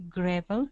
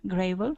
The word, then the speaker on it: gravel: Pebble yeah and and the reason it's not grave is because the L at the end is not a magicky like grave it's just another thing gravel okay and um this